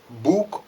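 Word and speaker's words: Boeckx: of the cedric books as i called him books but it happened that i pronounced his surname wrongly alongside with others because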